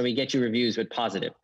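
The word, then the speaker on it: Pozative: okay let's go through them first one is positive positive positive positive yeah it's our review software so we get you reviews with positive it's pronounced spelled p-o-z-a-t-i-v-e um and so that's that's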